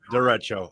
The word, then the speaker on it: derecho: Oh, the derecho. The Derecho. Derecho. Okay, Right, that's the yeah, official pronunciation.